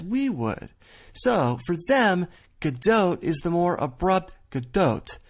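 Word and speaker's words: Gadot: bardeau so let's recap Israel says GDOT Israeli Americans say GDOT and gal herself not only says GDOT but she tells the American Media to say GDOT like she did recently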